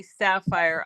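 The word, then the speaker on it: Safyr: It's It'll probably be Sapphire. I use that in all my gaming. It's But it's spelled phonetically. S A F Y R and then.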